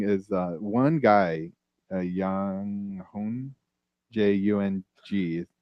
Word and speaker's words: Young Hoon Lee: But what's interesting is one guy, Yang Hun, Jung is how you say his first name. Young. Yeah, Yang Hun. Young Hoon Lee.